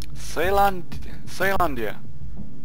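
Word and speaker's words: Caelondia: Ceylandia. That's how he pronounced it.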